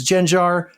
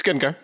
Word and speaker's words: Gengar: And if I mispronounced it, if it's Genjar, bite me. It's Gengar, but uh it's not hollow. It's uh holo.